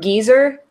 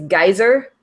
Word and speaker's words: geyser: way that, like, so they kept saying geezer, which is geyser. Like, we say geyser, but they say geezer.